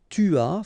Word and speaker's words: tu as: Okay, so j'ai, tu as, final S not pronounced, il a, elle a,